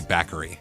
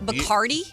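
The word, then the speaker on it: Bakari: It's actually bachary. Broccoli. Oh, is it? My apologies. Me and my pronunciation. Bikardi. B A K A R I. Not like the rum.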